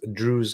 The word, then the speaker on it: Druze: They would have probably stood by it, but they denied it because Druze kids died, and not Jewish kids. Druze kids and not Jews kids. It rhymes.